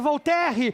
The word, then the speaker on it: Voltaire: Eu imagino que Voltaire, o que nós chamamos de Voltaire, é Voltaire, em francês a pronúncia, está se morroendo, porque